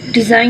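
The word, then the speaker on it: design: site में GH silent है, whole में W साइलेंट है, बेनाइन में G साइलेंट है, डिज़ाइन में G साइलेंट है, नाइफ में K साइलेंट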